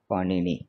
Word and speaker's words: पाणिनि: से लिखा जाता है, पाणिनि, और इंग्लिश में उसको PANINI लिख देते हैं लोग, पर उसमें उच्चारण की थोड़ी त्रुटि हो जाती है क्योंकि पाणी नहीं है।